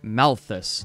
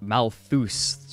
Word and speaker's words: Malthus: second experiment rats also his name is Robert Malthus not Malthus one of my sillier errors